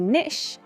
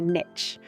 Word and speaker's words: niche: Niche or niche? Brits say niche, Americans say niche.